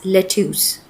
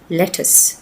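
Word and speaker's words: lettuce: We don't pronounce it एज लेट्यूस। The correct pronunciation is लेटिस।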